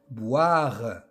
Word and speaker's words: boire: Boire. Boire. Le O et le I se prononcent wa.